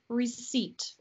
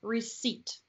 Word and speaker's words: receipt: receipt right yes and we pronounce this word we pronounce it receipt okay received aha without p receipt ah receipt wow cool